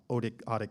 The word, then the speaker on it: Otic: was Kayden's bandmate in Otic Stick. I'm not actually sure how to pronounce my band's name. John's grandpa came up with it. It's spelled O-T-I-C. I say Otic Stick.